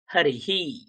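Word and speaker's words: হরিঃ: তাহলে উচ্চারণ কেমন হবে? হি। তাহলে হরি, এর উচ্চারণটা কি হবে? হরি হি।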